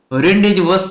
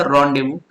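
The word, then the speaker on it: rendezvous: देखिए, अब क्या करना है आपको कि ये जो वर्ड है साथियों, रेंडेजवस जो था, ठीक है, जिसको आपने क्या पढ़ा, जिसको आपने पढ़ा रॉन्डेवू। इसका रियल प्रोनाउंसिएशन क्या था? रॉन्डेवू।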